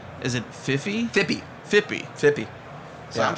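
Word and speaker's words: Phippy: Am I saying it pronouncing correctly when I say, is it Fippy? Fippy.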